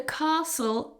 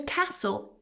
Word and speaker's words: castle: However, they both have a silent T. The castle is old.